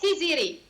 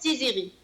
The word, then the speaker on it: Tiziri: C'est censé être Tiziri, mais la plupart le prononcent Tiziri.